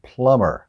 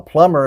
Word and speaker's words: plumber: be in it and it's pronounced plumber the B is silent a plumber is somebody who can